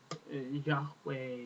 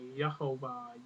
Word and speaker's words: Yahweh: So here God declares His name to be Yih'weh, which is generally either pronounced in several ways by different people. Yahweh, Yih'weh, Yehovah, Yehovah, Yahweh, Yahweh, Yahuwah. I mean, there's several pronunciations. Several ways that people have generally pronounced this name.